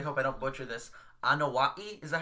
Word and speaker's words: Anoa'i: I I really hope I don't butcher this anaii is that how you say it anaii yeah you got it oh man I nailed